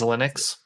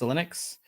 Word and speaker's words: Xilinx: news uh by acquiring how do you say this company's name is linux it's linux um they actually had